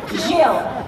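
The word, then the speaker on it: Gilles: I know, but how do you pronounce it? Jill.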